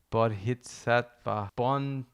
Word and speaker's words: bodhisattva: to enlightenment of a bodhisattva. Julie, how do you say that? Bodhisattva. Julie said, think Bodhi from Point Break.